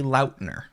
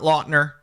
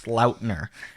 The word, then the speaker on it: Lautner: It is my fault that nobody knows how it's actually pronounced because I never corrected anybody No. for decades. No way. It is technically Lautner, What?